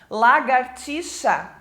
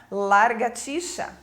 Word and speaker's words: lagartixa: né uma pronúncia errada lagartixa também a pronúncia errada trocando a posição do R para largatixa mendigo que as pessoas